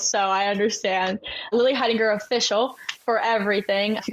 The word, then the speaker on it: Heidinger: Lily Hidinger. My last name is spelled H E I D I N G E R. It's kind of hard to pronounce, so I understand. Lily Hidinger official for everything.